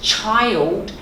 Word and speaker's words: child: something about your English the word is child and chance because you were going child and I'm like what you that's how you pronounce it just be really careful that CH is a chip okay but the one